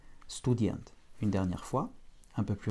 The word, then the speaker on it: студент: Student, avec un accent tonique sur la dernière syllabe. Donc le OU de stu ne sera pas atone, ne sera pas fortement prononcé, mais en tout cas la voyelle OU ne change pas hors accent.